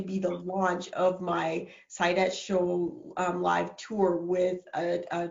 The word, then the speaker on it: Saidat: My first name, Saidat, is Arabic, and it's actually pronounced Saida, but my dad is from Nigeria, and so the pronunciation is Saidat, and that means profitable and happiness.